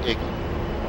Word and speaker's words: EGI: embeded GPS ins or egi often pronounced Iggy the Iggy integrates a